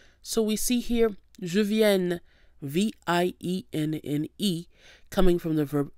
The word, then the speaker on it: vienne: subjunctive form, which is vienne, V-I-E-N-N-E. Now notice the difference in pronunciation. The indicative, je viens, with the nasal sound ia, versus the subjunctive, vienne, which is what we have here, that doesn't have the nasal sound.